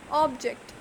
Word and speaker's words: object: Object. There were 3 objects in the box. Noun. So here the stress is on the first syllable, that is ob.